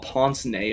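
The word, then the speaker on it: pince-nez: __ ] knows what ponce nay are oh is that how you pronounce that yeah i looked it up it's french it's like poisony yeah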